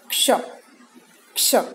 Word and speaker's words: क्ष: आधा क और श हुआ क्ष, क्षत्रिय, क्ष, क्ष। इसका उच्चारण हल्का सा क की ध्वनि आती है, क्ष, क्ष, क्ष।